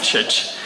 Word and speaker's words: Txetx: Mais tu m'as dit, ça se prononce comme comme ça s'éternue, voilà, donc je vais éternuer, Tchetch.